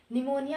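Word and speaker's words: pneumonia: निमोनिया में P silent होता है, निमोनिया में पी साइलेंट होता है, ठीक है।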